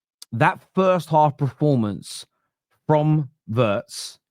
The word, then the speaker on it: Wirtz: That first half performance from Verts or Viet whichever way I do think it's Viet. They were saying on the commentary that that's how they say it in Germany. Vietz, the way he can beat a man is impeccable.